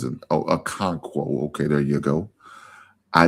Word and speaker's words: Okonkwo: I think it's how he pronounce it. Oh, Okonkwo.